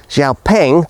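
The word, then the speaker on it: Xiaopeng: Xiaoing, that's actually how you pronounce the name, is definitely of the more serious sort.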